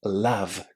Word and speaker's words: love: So if you remember to say love correctly, it would be really lovely. And yet all the words that contain the word love are also going to be pronounced with that short a sound. So it's going to be lovely, loved, loving, beloved. For more advanced students, all of those words are pronounced with a short a.